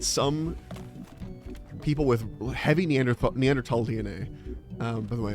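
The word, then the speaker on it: Neanderthal: people with heavy neander neander tal DNA um by the way it's tall because it's a German word and they don't pronounce the th's like that in the ends of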